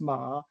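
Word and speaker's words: 马: So it's pronounced ma and it means a horse and by the way it's the year of the horse too.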